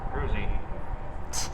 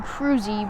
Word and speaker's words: Kruse: I can see how he will pronounce that name, Peyton Cruzy, but it's actually Cruz, FYI. It's spelled Kruse. Cruzy. I think if it were that, it would be spelled with a Y.